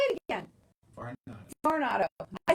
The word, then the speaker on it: Varnado: Varnado.